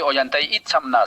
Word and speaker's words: Ollantay Itzamná: Hoy tenemos un invitado especial, se llama Ollantay Itzamá. ¿Es correcto cómo estoy pronunciando tu nombre, Ollantay? Buenas tardes. Hola, ¿qué tal Arturo y compañía? Yo soy Ollantay Itzamná, sí, correcto. Bueno, muchas gracias por venir.